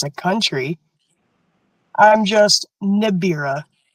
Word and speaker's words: Nibria: I'm just Nibira. Nibira.